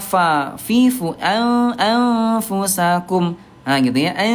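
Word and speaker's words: ف: Huruf fa ini kan bibir dalam bagian bawah disentuhkan dengan ujung gigi seri atasnya fa.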